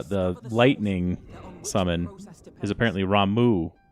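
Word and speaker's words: Ramuh: the first time i've ever actually heard it pronounced uh the lightning summon is apparently ramu not rama i believe that for me it was always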